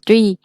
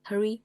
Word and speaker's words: three: Úi dồi ôi, thanh niên lâu năm rồi mà vẫn đọc là tree. Chết tôi rồi. 3. Hurry hay, em bảo hurry mà. Again. Three.